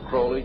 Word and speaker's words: Crowley: be have his name pronounced crowley to rhyme with holy and uh the satanists